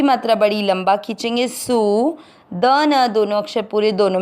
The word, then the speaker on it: सूदन: सु की मात्रा बड़ी, लंबा खींचना है सु। द न दोनों अक्षर पूरी, दोनों में आ मिक्स करना है सूदन।